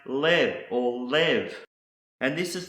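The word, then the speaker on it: לב: next word that starts with the Llama is pronounced live or live and this is the word for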